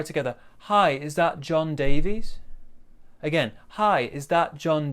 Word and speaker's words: Davies: hi is that john davies we're going to stress these two words here so again the intonation goes hi is that john davies notice here we've got two syllables davies now in this we've